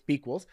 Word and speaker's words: bEquals: So she's the founder of bEquals, or bEquals, however you want to pronounce it. I know we talked about it earlier. It's bEquals.